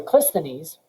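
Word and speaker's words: Cleisthenes: became tyrannical would be virtually impossible and so clistonese which is spelled c-l-e-i-s-t-h-e-n-e-s took power he was member of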